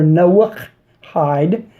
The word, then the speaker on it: Noahide: this video now to start out the word Noahide or Noah hide as it's pronounced in Hebrew is not in the Hebrew